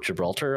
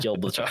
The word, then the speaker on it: Gibraltar: time and uh because I can't read or pronounce words and someone was like you mean Gibraltar I was like yeah that's the word not Gilbert yeah that's that's what I meant and